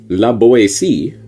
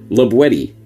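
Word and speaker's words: La Boétie: as might be thought laoi but rather Lati with the hard t as it was pronounced in the perigord dialect of the region in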